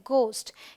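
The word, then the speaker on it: ghost: याद कर लेना होगा जैसे this is नॉट घोस्ट इट्स घोस्ट alright यहां पर एच साइलेंट है ये है घोस्ट ये है रिदम यहां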